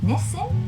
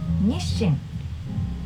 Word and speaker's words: Nissin: so in the end pronouncing it Nissim it's not wrong but if you want to do it in Japanese way nishin is correct okay number three Calo